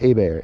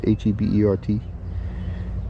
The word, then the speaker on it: Hebert: in Louisiana email um it's like a bear h a bear is H E B uh h e it smell like spelled like Herbert h e r b e r t or something it h e b e r t like Hebert I think it is but it's a bear but this is a